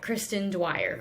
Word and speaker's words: Kristen Dwyer: I think that's how you pronounce her name. I think that's the author. Yeah, Kristen Dwyer.